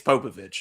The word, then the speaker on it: Popović: Is it Popovich or is it Popovic? Do we know? It's Popovich.